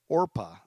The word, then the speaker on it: Orpah: guys know this but her first name is actually orpah o-r-p-a-h orpa gail winfrey who's on her birth certificate after the biblical figure in the book of ruth but so many people mispronounced it regularly and so oprah stuck that's how she became